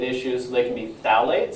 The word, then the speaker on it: phthalate: So they can be phthalates, so spelled with P. I know it's confusing. P, phthalate. It's like P, pterodactyl. It's like, really?